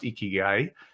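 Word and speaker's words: ikigai: Mark for your listeners eeky guy some folks might be familiar pronounced eeky guy like e a key and a guy spelled i k i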